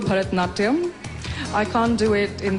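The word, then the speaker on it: Bharatanatyam: dance you know this was coming help me pronounce it and show us a few steps well it's called Bharatnatyam I can't do it in this gown because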